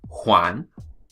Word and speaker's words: Juan: The letter J is pronounced like the letter H, okay? So a very common name in Spanish, Juan, all right?